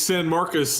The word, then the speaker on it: San Marcos: it correct him level how do you pronounce it it's San Marcus and this is the